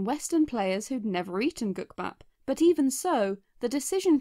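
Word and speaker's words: 국밥: The character was named after gukbap, a Korean dish made from rice and soup. That I've probably horribly mispronounced. In Japan, gukbap is pronounced kuppa or koopa, and indeed, Japanese versions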